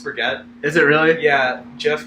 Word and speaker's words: Brigitte: I mean, Mercy, Lucio, Bridget. Makes sense. Yeah, usually just Bridget's is nice. Bridget, I love her. Yeah. It's Brigitte. Is it? I think it's actually pronounced Brigitte.